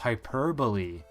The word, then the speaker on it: hyperbole: oh yeah that's right it's pronounced hyperbole that messed that meant that still messes with me how can it be pronounced hyperbole the word looks like it's perfectly functional the way it is like hyperbole giving us hyper like I don't know where the Bali comes from but that is